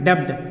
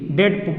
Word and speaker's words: debt: अब जैसे देखिए यहाँ पे ये वर्ड है DEBT, इसको लोग डेप्ड बोलते हैं, डेप्ड इस तरह से बोलते हैं, ऐसे बोलते हैं डेप्ड, ये पूरा का पूरा गलत है।